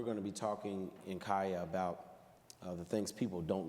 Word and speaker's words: CAYA: Oh, it's CAYA.